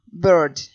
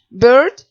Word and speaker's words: bird: La palabra bird. Bird, como sabemos, se escribe B-I-R-D, pero no se pronuncia la I, entonces es bird.